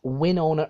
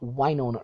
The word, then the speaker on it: Wynonna: to all the Americans that's Winona or not Wynonna herb you pronounce the wire like an eye you know that really